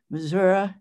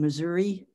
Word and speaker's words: Missouri: james do you um hear the difference in the way you pronounce the river and the way i pronounce the river missouri and missouri oh yeah you know i mean i i know from folks who are from missouri want to say that but i say missouri simply because when growing up in oklahoma you know you just kind of learn to pronounce it that way like the state but yes and and